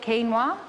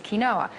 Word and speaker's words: quinoa: South America it's gluten-free some people call it quinoa in Australia but the correct pronunciation is kinoa you can get red kinoa and you can get